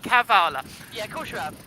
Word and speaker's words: Kavala: We've been trying to pronounce it Kavala. I've been trying not to say, well, Charlotte in particular has been trying not to say Kavala. I've been saying it right, Kavala.